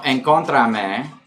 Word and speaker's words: encontrame: Okay, no, encontrame is how you say it, like in Argentina, and I believe other Latin American countries. Not Mexico, though.